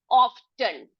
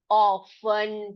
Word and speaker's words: often: इसको टी को साइलेंट करके पढ़ के देखिए, कैसे पढ़ेंगे हम? ऑफन पढ़ेंगे।